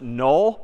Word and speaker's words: NULL: Confusingly, in a couple of weeks, we're going to see another word pronounced null, but spelled N-U-L-L.